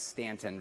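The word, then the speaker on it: Staunton: Trinity Episcopal Church in Stanton, Virginia. They told me how to pronounce it because I was trying to pronounce the U. Don't do that. It's Stanton, Virginia.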